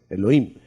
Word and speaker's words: Elohim: Pero no se dice así, se dice Elohim siempre. Elohim.